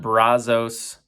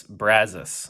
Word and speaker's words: Brazos: And so it's not Brazos State Park, it's Brazos, apparently, is how it's pronounced. So not Brazos, Brazos.